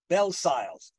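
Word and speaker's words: Bellesiles: One well-known example, there are several others, is that of Michael Belsiles. His name is spelled Belsiles, but I understand he pronounces it in the French, Belsile. But I'm going to say Belsiles.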